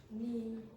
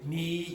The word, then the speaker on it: knee: Ni. And what's the silent letter? Okay. K, exactly. Okay, so you say knee, you don't say knee.